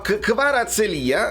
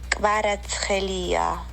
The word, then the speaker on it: Kvaratskhelia: Kvaratskhelia, e ve lo faccio sentire di nuovo così voi lo imparate, e nel caso sapete già come pronunciarlo. Kvaratskhelia. È chiaro? È chiarissimo. Kvaratskhelia.